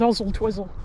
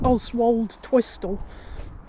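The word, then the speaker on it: Oswaldtwistle: Yes, the town over there is called Ozel Twizzle. Don't let anyone tell you it's pronounced Oswald Twistol.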